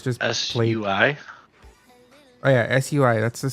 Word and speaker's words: Sui: Oh, look, they How do have you spell that? so it's just SUI?